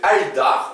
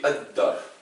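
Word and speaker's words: الدار: Au lieu de mettre al-dar, on dit eddar.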